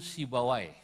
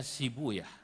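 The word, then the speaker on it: سيبويه: beliau sibuya Huna asluhu sibawai dalam satu lughat dibacanya sibuyah untuk menyesuaikan wazan sebab kalau pakai sibawai Huna enggak ketemu wazannya maka saya pakai satu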